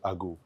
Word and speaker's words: आगू: तो मैंने सोचा कि चलो ठीक है, लोगों को बताऊंगा कि आगू है, 3 लेटर वर्ड्स है, AGU, आगू।